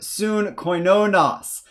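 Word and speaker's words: συγκοινωνός: So this gamma here is pronounced with a nasally n sound when it comes before a kappa, a gamma, or a key. So in this case, before a kappa, we're going to get the soon sound rather than su-g.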